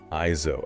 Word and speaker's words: AIZO: That title is read as IO. Iso.